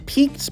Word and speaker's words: piqued: types of art some nice words would be piqued my interest it's pronounced Pete's it's a French word so it's